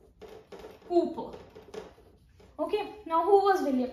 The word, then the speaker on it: Cowper: Ideally, it should be pronounced as Cowper, but no, we pronounce it as William Cowper.